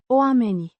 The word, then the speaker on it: oamenii: A noun meaning the people, pronounced Oamenii. with the stress on the second syllable.